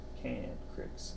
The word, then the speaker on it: cantrips: Cantrips. It's not a don't cricks, it's cantrips.